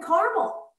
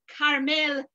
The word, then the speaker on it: Carmel: it caramel you know as in Carmel California no no no you're